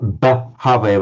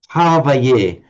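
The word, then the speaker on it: bhāvaye: But can you say, Deborah, bhavaye? Not bhavaye, but bhavaye. Hawaii. That was a lot better. That was a lot better. I said, be not downcast about it. The Thais still haven't got it. They if you hear a Thais, they'll say Havaye, and the Thais will talk about the Hamma, not the Dhamma.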